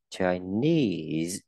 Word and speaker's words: Chinese: Chinese, Chinese, trọng âm là âm knees chứ không đọc là Chinese, không phải.